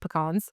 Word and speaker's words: pecan: and the Deep Cell and then we have PK pie okay I don't say it like that I call it pecans so pecan pie but pean pie is what you're going to hear a lot in the rural areas and it is a